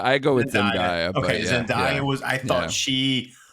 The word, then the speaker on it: Zendaya: I thought Zendaya, am I pronouncing that right? I've heard Zendaya. I go with Zendaya.